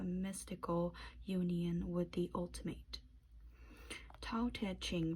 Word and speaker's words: Tao Te Ching: Tao Te Ching, pronounced Dao De Jing, is the way of life defined by many ancient sages who lived in China centuries ago.